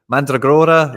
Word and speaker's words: Mandragora: By the way, Mandragora, that's how you say it.